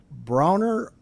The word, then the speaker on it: Bronner: I just got to remember it's Bronner, not Brainer. Bronner, yes.